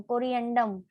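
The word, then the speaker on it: corrigendum: कोरिएंडम हम लोग बोलते हैं एक वर्ड, कोरिजेंडम, कोरिएंडम, कोरिएंडम वर्ड बोलते हैं, जी साइलेंट होता है।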